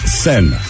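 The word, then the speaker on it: Seine: power boy you hear me uh it's pronounced sen thank you sin the river send hello Conrad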